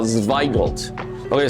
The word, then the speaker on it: Zweigelt: 各位好朋友，我来教大家来讲怎么去发音这个葡萄品种，很特别，叫 Zweigelt。 OK，虽然它是 W，但是它的发是 V 的声音，所以是 Zweigelt。OK，然后呢，再来呢，Zweigelt 要用的杯子呢是 Shiraz。虽然说它是 Pinot Noir 的孙子，但是呢，它是以新香味为主，所以尽量是用 Shiraz 杯。OK，let's try it if Zweigelt matches this.